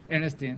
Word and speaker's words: Ernestine: I did say it right say Ernestine again Ernestine okay that's all right all right so what's